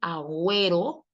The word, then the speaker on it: agüero: Ah, profe, porque hay una regla que dice que la consonante G va poder llevar diéresis siempre y cuando después de ella continúe o la vocal e o la vocal i.